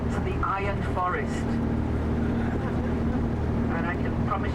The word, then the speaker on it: Iron: Of course, uh here they're spelling it I R O N. Iron is the correct pronunciation. Until recently, there was a big uh sign here saying to the iron forest.